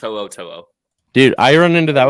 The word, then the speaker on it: To'o: Yeah, no, it's To'o.